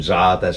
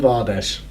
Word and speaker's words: Zardes: gone to Galatasaray, and Zardes is out and things like that, so they needed Zardes. I remember that. Your mate. Interviewed him, said his name wrong. Good start. Called him Vardes.